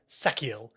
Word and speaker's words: Sachiel: Apparently, the ch in Sachiel is pronounced as a hard K. Sachiel.